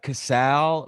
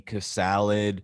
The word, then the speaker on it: Castle: do you pronounce it it's uh casal but uh you know kids in in uh elementary school would call me kiss salad they would call me a castle like a princess castle they would call me